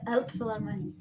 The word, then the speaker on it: Elbphilharmonie: Hall, the Kennedy Center, and could you please pronounce that word for me? Yeah, Elbphilharmonie.